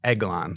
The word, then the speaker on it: Eglon: And then it's Eglon, like a dozen eggs. Like eggs. It's like a short E sound.